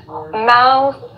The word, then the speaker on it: mouth: It's definitely Mouth is boca. Mouth. So you have that TH, that fun TH sound at the end.